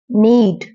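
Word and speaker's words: knead: नीड, गूंदना। नीड, गूंदना। इसमें के silent है, के की आवाज नहीं आएगी।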